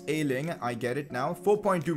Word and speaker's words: Ayling: have been complaining that i've been pronouncing luke ayling's name completely wrong well i fixed that for you guys it's ailing i get it now